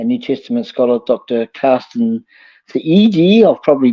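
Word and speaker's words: Thiede: Carsten Theede. I've probably butchered that, but it's spelled Thide. I think it's pronounced Theede, something like that.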